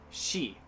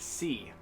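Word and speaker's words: し: at the highlighted ones she now you see this isn't pronounced c why because this isn't spanish class thank god i already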